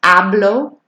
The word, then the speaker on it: hablo: Focusing on the special letter sounds, H being silent, hablo, y, ñe making the ña sound on español.